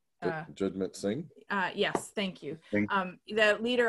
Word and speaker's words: Jagmeet Singh: And if we've seen anything the leader, I can never pronounce his name properly, Sanjit. Jagmeet Singh.